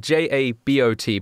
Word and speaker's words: jabot: It's spelled J-A-B-O-T, but it's a French word, so it's Jabot.